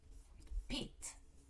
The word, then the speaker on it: Pete: cat these are pets but if you add an e to the word it becomes um a name Pete okay so in this